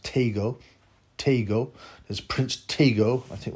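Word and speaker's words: Tagoe: I thought it'd be Emmanuel Togoe. I didn't think there was silent E's in a lot of African dialects, but, you know, what do I know, man? I researched this, and apparently it's pronounced Tego.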